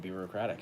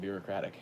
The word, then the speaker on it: Birocratic: so I just need to put on the record that it is in fact pronounced Birocratic, and I will send you my merch that says it's pronounced Birocratic as a as a token of gratitude.